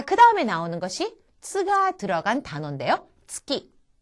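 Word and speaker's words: つき: 츠키. 츠. 츠키라고 하는 거. 이것은 달을 말합니다. 그래서 치키. 치키. 달 음으로 지금 쓰였는데 이때 즉라든가 즉 하는 식으로 발음하지 마시고 그냥 파열되는 대로 그대로 나누시면은 좀 더 자연스럽습니다.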